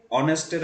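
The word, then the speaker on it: honest: Anyway, একটা ভুল চোখে পড়েছে সব কনভারসেশনেই, সেটা হচ্ছে অনেস্টের আগে এ কেন। অনেস্টের এইচটা কিন্তু সাইলেন্ট এবং এটার উচ্চারণটা ভাওয়েলের মতো।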